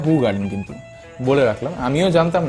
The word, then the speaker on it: Hoegaarden: This beer as ইন হু গার্ডেন। আবারও ভুল বললাম, দেখছেন তো কেমন প্র্যাকটিস হয়ে গেছে, বাট অ্যাকচুয়ালি প্রোনাউন্সিয়েশনটা হু গার্ডেন, কিন্তু বলে রাখলাম, আমিও জানতাম না, আমিও দেখেই শিখলাম।